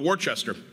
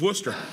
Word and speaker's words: Worcester: how to pronounce it I called it warchester and after 50 push-ups I knew it was Worcester luckily we stopped doing